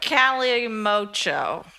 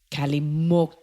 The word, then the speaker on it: Calimocho: Calimocho. Calimocho. What do they do with that X? But then they have it written with a CH as well.